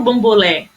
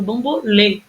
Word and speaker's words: bambolê: dele é a passado eu não falo bom bulé falo Bambolê entende percebe E aí